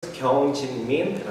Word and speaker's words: Kyung Jin Min: Kyung Jin Min. It's really, I know that it's really hard to pronounce, so you can just call me, my initial.